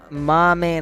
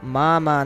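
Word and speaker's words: まま: Mama nano. Oh. Anata wa mukashi no mama nano. You are still the same as before. Okay. I was pronouncing that incorrectly. I was saying mame, not mama.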